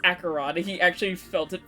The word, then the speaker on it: Acheron: chat one day because I pronounced her name Archon because that's just what It looks like it. Yeah. Oh, she stood up again. See, he was like, no, it's Acheron.